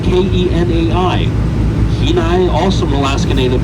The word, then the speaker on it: Kenai: Now, Kenai is spelled K E N A I.